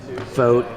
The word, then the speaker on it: Voogt: so it's vo GT and it's pronounced vote in like you vote in an election how however it's dut